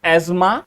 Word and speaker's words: asthma: video में आगे हम इंस्टेड ऑफ एजमा क्योंकि कई लोग शायद ना समझ जाए इसको हम अस्थमा ही प्रोनाउंस करेंगे ठीक है तो ये